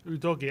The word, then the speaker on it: Udogie: Udogie, that's how we pronounce it.